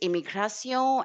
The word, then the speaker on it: immigration: So anything which is t io n in French is i o n is not not shun like the way we have it in English.